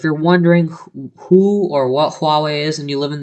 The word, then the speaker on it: Huawei: thought um but huawei hue i used to pronounce it hui and then i started watching a loo later and unboxed therapy and i was quite quickly corrected everybody calls it huawei and if you look at the word it